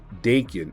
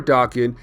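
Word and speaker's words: Daken: pick up right now with Dakin or Dawkin it all depends on how you guys want to pronounce it either way when it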